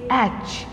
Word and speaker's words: H: as you normally speak don't say hatch say h there must be a her in between that sound h i again when you